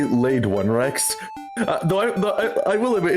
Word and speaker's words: Lade1rex: Okay, well, thank you so much, Lady T-Rex. Is it Lady T-Rex? It's actually Laid One Rex.